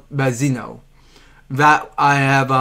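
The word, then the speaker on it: Malzeno: I mean, everybody guessing that they say Mazzano, but it was pronounced Mazzino.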